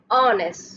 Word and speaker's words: honest: So noun, adjective, it means we need an article here, and we are pronouncing it as an honest. So a sound is coming, so it is your vowel sound, so the article will be n.